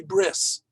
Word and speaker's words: bris: You will often hear people talk about going to a bris. Bris is just the Ashkenazi pronunciation of brit, but it's like cutting off half, you should pardon the expression, cutting off half the word.